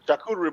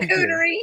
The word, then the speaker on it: charcuterie: That's a charcuterie board. Shooby doo. Busy said, I Really? Did mean, I say it busy. right? I said it wrong. Charcuterie.